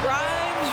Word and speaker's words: Grimes: Grimes rhymes with dimes.